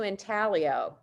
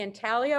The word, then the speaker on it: intaglio: Now this, we're going to move into Intaglio. Whether you say Intaglio or Intaglio, depending on where you are in the country, someone will tell you you are mispronouncing it, so don't worry about it.